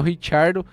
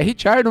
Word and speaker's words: Ricciardo: Seguido do Hamilton, o Daniel Ricciardo. É Ricciardo mesmo, eu falava zoando, mas é Ricciardo.